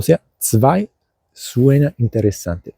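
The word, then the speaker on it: zwei: O sea, 2 suena interesante. 2 se escribe con Z y luego con W, V, doble. Y bueno, EI. 2.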